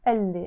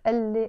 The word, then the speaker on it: قال لي: You see, I wrote it قال لي, but I pronounced it قال لي as if it's one word. You always pronounce this قال لي as one word.